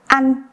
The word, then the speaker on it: ăn: And with the word ăn, you can see that we have a ngắn. So you can get the feeling that the sound n is longer, like ăn, ăn, ăn, ăn, ăn, ăn, ăn.